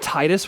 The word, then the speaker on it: Titus: that Titus one because I I do think it should I think his name is pronounced Titus personally cuz like tide like the water like it's literally right there